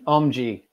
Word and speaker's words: Omji: You're going to have to pronounce it for us. You can say the second version, man, the Omji.